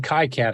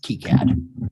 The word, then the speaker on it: KiCad: that wants to yep and this is in kai-cat i think isn't that what this is called dude this is keycard even though it's spelled kai-cat it's pronounced key cad kicad now i've seen a presenter at the